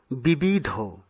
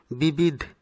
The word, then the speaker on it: বিবিধ: গহ্বর, আমরা ভুলবশত গহ্বর উচ্চারণ করে থাকি, ঠিক পরেরটি বিবিধ, এই শব্দটিকে আমরা অনেক সময় বিবিধ উচ্চারণ করে থাকি, যা অশুদ্ধ, শুদ্ধ উচ্চারণ হচ্ছে বিবিধ।